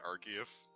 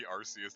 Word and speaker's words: Arceus: how passive-aggressive I've been are the people that pronounce it Arceus like even though you said it's supposed to be RC as they just did in one British children laughing